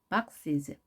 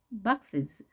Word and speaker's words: boxes: boxes, boxes, boxes. 자, is 발음을 약하게 해서 내려주시고요.